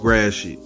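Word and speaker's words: Gratiot: right yeah that's that's facts that's facts it's pronounced grassy i made plenty of videos about mispronounced detroit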